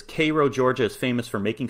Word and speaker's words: Cairo: the one in egypt cairo but this one is pronounced k-a-y-r-o-w he says cairo georgia is famous for